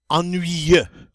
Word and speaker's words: ennuyeux: Just by looking at it, it poses people get a little nervous about pronouncing it, but it's really not that bad. It's ennuyeux.